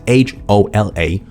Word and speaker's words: hola: them is the H the H is silent in Spanish that's why it's h o l a hola but we don't